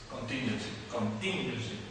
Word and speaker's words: contingency: That was, and this is contingency. Stress goes there on the second syllable, right?